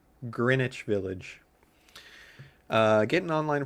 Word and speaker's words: Greenwich Village: get that in my head, but it is pronounced Greenwich Village.